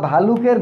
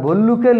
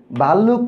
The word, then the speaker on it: ভল্লুক: এটা আমরা অনেক সময় ভুল উচ্চারণ করে থাকি। ভুল উচ্চারণ করে আমরা ভাল্লুক বানিয়েছি। আসলে শব্দটা হলো ভল্লুক বা ভালুক।